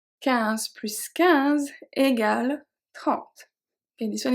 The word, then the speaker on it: plus: Now we also pronounce the S when we talk about math. So if we say 1 plus 2 égale 3. 1 plus 2. 15 plus 15 égale 30.